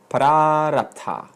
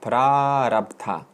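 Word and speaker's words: prārabdha: The third principle is prarabdha. That's a long A. Prarabdha. This is an important word. How do you spell it? P-R, long A, R-A-B-D-H-A. Prarabdha.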